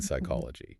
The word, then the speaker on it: psychology: An editor of the Oxford English Dictionary actually demanded that English speakers restore the P in psychology. Yes, he did. He wanted everyone to match the French and the German pronunciations where they still sound out the P right before the S. He was a purist. He was trying to force a phonetic correction long after the public had already moved on. And English speakers completely ignored him. They kept right on dropping the P.